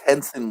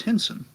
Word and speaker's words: Hinson: I always thought it was Henson, like Jim Henson. No, I'm pretty sure it's Hinson.